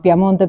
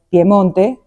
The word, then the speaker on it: Piemonte: que obviamente se llama Piamonte, pero en realidad es Piemonte, pero lo escribieron como Piamonte, porque me imagino por la pronunciación, porque el piemontés es muy de la boca abierta, ¿no?